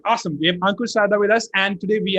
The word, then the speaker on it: Ankur Sarda: for ironman university today we have with us ankur sharda right is that how we pronounce it yes exactly all right awesome we have ankur sada with us and today we are here to